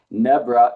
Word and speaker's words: Nebra: Nebra is spelled just like Deborah except with an N.